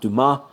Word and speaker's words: Dumas: I know that name, being a French person, should be pronounced Dumas.